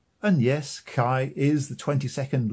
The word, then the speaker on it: chi: chinese is outrageous first the pronunciation is different not like kai but chi or ki second neither modern nor